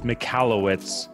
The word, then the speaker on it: Michalowicz: So it's Michalowicz.